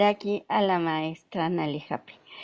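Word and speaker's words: Hape: Mire, mi apellido es holandés y se pronuncia Jape, porque si ¿Jape?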